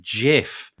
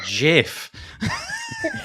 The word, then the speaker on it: GIF: get them wrong but basically it was it's pronounced jiff it's jiff really from the person who started it